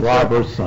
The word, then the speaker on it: Roberson: You say you pronounce that as Robertson? Robertson. R-O-B-E-R-S-O-N?